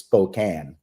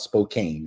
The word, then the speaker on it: Spokane: news today about um Spokane Washington but I've been hammered now it's Spokan so that that's unbelievably important it's not Spokane it's Spokan I had no idea